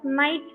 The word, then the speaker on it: knight: Knight, you have to spell it as knight, children. Nidknidht. K is silent there, so you have to pronounce it as knight over there.